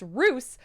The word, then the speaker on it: Roose: or sorry it's roose like a rooster without the tur it's always the way